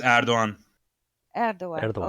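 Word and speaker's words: Erdoğan: Because between the French that say Erdogan and the Americans that say Erdogan, how is the it's real it's pronunciation? is Erdogan. Erdogan. Erdogan.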